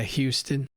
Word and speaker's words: Houston: it's fairly warm and humid we're in Houston Houston as they say here yeah we're right here in Houston they don't pronounce the age that Houston yeah Houston but um I'd say you know Dallas is